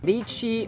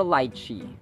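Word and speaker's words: lychee: juice making contest certitude lichi or lichi lichi or lichi either of the two is Actually correct or acceptable in American pronunciations lichi or lichi yada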